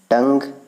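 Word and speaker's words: tongue: टंग means क्या होता है, जबान, इसमें यू ई साइलेंट है, ठीक है।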